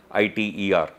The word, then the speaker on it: ITER: This attempt, which is happening in France, the project is called as ITER, I-T-E-R, generally pronounced as ITER, euphemistically is called as